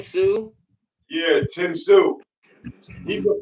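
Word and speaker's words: Tszyu: Tim Zoo. That's how you say his name, Sue.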